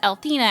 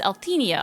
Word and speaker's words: Althena: Maraketsu says, I'm sorry if it's just a slip or if it's intentional, but I noticed that you pronounce Althena as Althenia a lot.